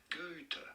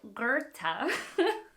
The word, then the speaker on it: Goethe: In English, it is usually said as Goethe. Okay, I always get Goethe's name it's just not the name that I remember, and it doesn't follow pronunciation rules. So Goethe.